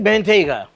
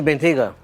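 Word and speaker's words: Bentayga: a help over here we have a Bentley bentega hey I said it right Bentley bentiga this car has a million problems and um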